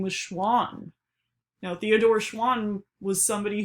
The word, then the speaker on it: Schwann: To me, Schwann sounds like the word swan, and Schwann was a